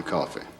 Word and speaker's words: Coffey: Your name is John Coffey. Yes, sir, boss. Like to drink, only not spelled the same.